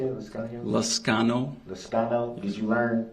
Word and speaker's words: Liscano: How do you say it, Liscano?